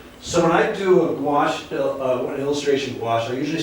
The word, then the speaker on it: gouache: Does anybody, you've heard of gouache, right? You guys heard of gouache? Okay, because when I go to schools, I say, it rhymes with squash, that's how you remember it.